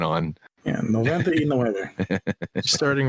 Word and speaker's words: noventa y nueve: To say it properly would be noventa y nueve.